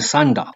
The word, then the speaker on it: sundial: It's a device that you can tell the time from, depending on where the sun casts its shadow on the sundial.